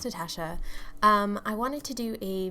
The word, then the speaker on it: Natasha: guys, it's Natasha, pronounced Natasha.